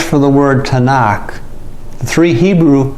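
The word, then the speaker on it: תנ״ך: it and cough now tav noon cough has the sound of a t in english noon sounds like an n in kath sounds like a k the three letters for the word tanakh three hebrew letters for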